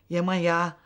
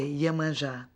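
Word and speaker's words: Yemanjá: Yemanja, that's the pronunciation in Cuban, in Spanish. In Portuguese, we say Yemanja.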